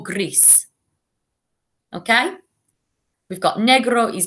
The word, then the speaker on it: gris: So remember, when you say rosa, you need to roll your R, rosa, and the same for gris.